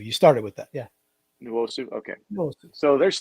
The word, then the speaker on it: Nwosu: Do you pronounce the N? Yeah, a little bit. Yeah, you do. You Nwosu. You started with that. Yeah. Nwosu.